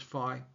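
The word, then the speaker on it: phi: I realize the correct pronunciation is fi.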